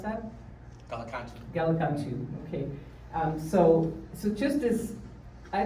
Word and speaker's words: Gallicantu: How do you pronounce that? Gallicantu, okay.